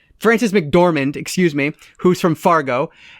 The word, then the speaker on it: McDormand: It has Frances McDermott, right? That's how you say her name? Frances McDormand, excuse me, who's from Fargo, and it's directed by Sam Raimi with music by Danny Elfman.